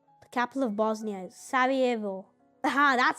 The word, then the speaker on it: Sarajevo: He was assassinated in Sarajevo, the capital of Bosnia is Sarajevo.